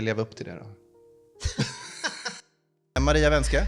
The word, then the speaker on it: Maria Vänskä: Maria Wenske, Maria Wenske. välkommen hit. Bra uttal av efternamnet.